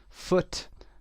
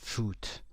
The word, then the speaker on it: foot: اوی کشیده نخونید، foot نخونید، مثل غذا تلفظش نکنید، نگید food. غذا میشه food، پا میشه foot.